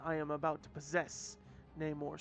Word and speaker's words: Namor: Hovering above her on winged feet was none other than Neymar or Namore if you go with the Spanish pronunciation, but I'm oldfashioned.